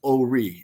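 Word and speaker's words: Horry: they're like it's pronounced oie or I'm like but there's an H there and like so I'm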